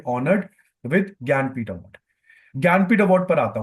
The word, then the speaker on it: ज्ञानपीठ: Pronunciation इसकी ज्ञानपीठ होती है, जनानपीठ नहीं है, जनाना अवार्ड नहीं है ये।